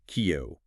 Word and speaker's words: queue: Q U is pronounced simply kio. It's a direct French borrowing from Q, meaning tail.